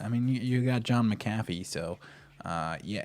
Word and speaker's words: McAfee: one the only john mcafee it's mcafee it's spelled mcafee mcafee is the proper one to go the proper one to say and so uh first